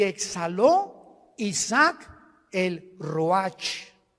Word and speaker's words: Ruach: Y exhaló Isaac el Roach. Así como suena, se pronuncia la CH en hebreo como J, Ruach.